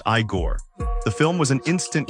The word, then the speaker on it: Igor: Frankenstein as the unforgettable Igor pronounced Iiggore.